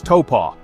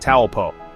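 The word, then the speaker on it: Taupō: Pronounce every vowel. Taupo is Taupo, not Taupo. Wakapapa means genealogy, your connection to ancestors, land, and the universe.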